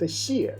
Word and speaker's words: 谢: The character we're about to learn today is pronounced xie, which is a fourth tone.